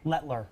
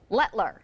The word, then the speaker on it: Letelier: Letler. Letler.